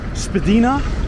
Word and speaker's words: Spadina: this unique change apparently there's different ways of pronouncing Spadina there's Spadina and then there I think it's yours spedina and the uh I